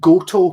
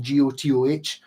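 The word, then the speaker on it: Gotoh: their own company so they are go to as in geotoh but for a year they were called go to because they misprint they misprinted it when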